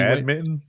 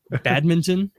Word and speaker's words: badminton: Are their cities going to be badminton? Badminton? Do you pronounce the N?